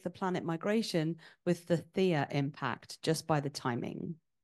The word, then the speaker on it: Theia: planet migration with the Theia impact just by the timing? And I, again, maybe mispronouncing Theia, that is T-H-E-I-A. Yes, yeah, it's correct. It's fine.